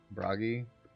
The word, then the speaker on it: Bragi: Bragi. Rhymes with froggy.